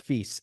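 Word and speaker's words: Fils: it's funny with with feast and by the way I think you you're supposed to pronounce the S the S is in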